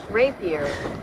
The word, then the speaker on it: Rapier: Rapier. Yep. Is pronounced as the weapon rapier.